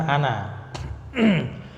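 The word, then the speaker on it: أنا: Nah, itu alifnya tidak memanjangkan bacaan, ya, sehingga bacanya cuman ana.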